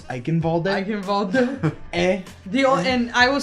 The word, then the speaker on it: Eichenwalde: Mine is a tie between Eichenwald and Kings Row. Kings Row, it's so great. And Ilios and please- Ilios Ruins. Oh, Please Ilios! pronounce it right. It's Eichenwalde.